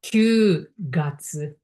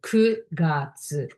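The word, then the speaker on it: 九月: But for the month, September, Ku, not Q gatsu, Ku. So Ku gatsu.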